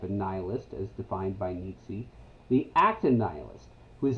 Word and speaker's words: Nietzsche: And Nietzsche, or as some people pronounce him, Nietzsche.